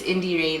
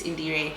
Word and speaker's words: iindirhe: So my first name is. So that's spelled. So I just took the Ray. Yes. Yeah. The spoken word. Yes, it is me. And then I added it there. So that's how iindirhe came through.